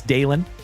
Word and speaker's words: Dalen: My name is Dalen. D A L E N like Dale plus N.